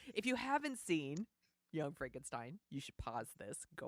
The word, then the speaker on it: Frankenstein: He is a Frederick von Frankenstein. Yes, Frederick Frankenstein. So we find out he pronounces Frankenstein, not Frankenstein.